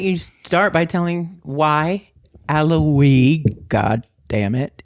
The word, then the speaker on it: Alaoui: ALA. OUI. OUI. We. We. Right? Yeah. French. Allah. Oui. I will never forget that. It's Alaoui.